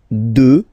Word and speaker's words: deux: Deux. Final x not pronounced, okay.